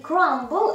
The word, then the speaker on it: crumble: И буква B там не читалась. Но в остальных словах, производных от этого, буква B читается. И crumble – это покрошите хлеб.